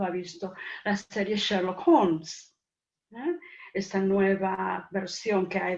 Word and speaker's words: Holmes: que se dice Sherlock Holmes. Claro, no se dice Sherlock Holmes. Se caen las letras. En inglés hay muchísimas consonantes que son silenciosas en muchas situaciones.